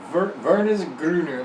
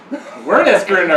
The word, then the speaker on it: Wernesgrüner: Is it like Wernesgrüner, like worm grounder, like it's ground up worms?